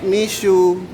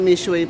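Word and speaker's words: Mixue: Dati ang pronunciation ko nito is Mishu. Yung pala Mishway pala yan.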